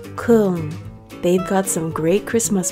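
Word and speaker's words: Köln: we head to Cologne or as the locals say Kung they've got some great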